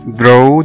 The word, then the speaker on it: draw: وكلمة draw draw أو يرسم زي ما احنا عارفينها DRAW، ال A هنا نطقناها O لأن جه بعد منها W.